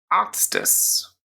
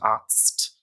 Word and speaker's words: Arzt: And the reason for that is if you think about it, that sound at the end, Arzt, it's quite difficult to stick in it. Arzt. Yeah, you need the little E to bridge that sound.